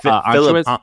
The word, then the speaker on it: Anschutz: Philip Anschutz?